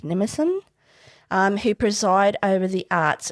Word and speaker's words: Mnemosyne: The daughters of Zeus and Mnemosyne, is that how you say your name? Mnemosyne? It's Mnemosyne. I'm assuming the M is silent, so it's Mnemosyne, who preside over the arts and science.